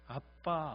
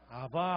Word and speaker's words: 아빠: 하시옵소서 기도를 올리게 됩니다 아빠 아버지란 말을 사용했어요 옛날 개혁 성경에서는 아바 아버지 이렇게 됐습니다 근데 이제 개혁 계정에서는 발음을 정확하게 살렸어요 그래서 아빠 아버지데이 아빠라는게